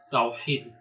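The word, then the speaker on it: توحيد: Esta H en realidad se pronunciaría como una especie de J en español. Tawhid significa la unicidad de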